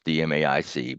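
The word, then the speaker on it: DMAIC: but everyone uses this deic that's how it's pronounced it's d aic but people call it deic and shorthand stands for define measure analyze improve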